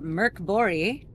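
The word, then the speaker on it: Mörk Borg: dm'ing a game of merc bori that's how you pronounce it that's that's that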